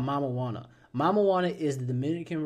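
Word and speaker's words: Mamajuana: And it's spelled just like marijuana, but it's Mama, MAMA Juana, right?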